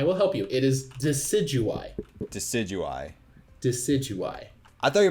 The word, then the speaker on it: Decidueye: figured out how to pronounce it if that's pronounced wrong okay I will help you it is decidueye decidueye decidueye I thought you're about to fight